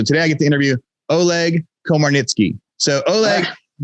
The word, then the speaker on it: Oleg Komarnytskyy: you guys are gonna be excited when i pronounce this name right so today i get to interview oleg komarnicki so oleg how how did i do did